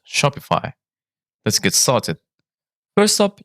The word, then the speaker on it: Shopify: way to pronounce Shopify where the I is pronounced like the i in high so it's Shopify to make it even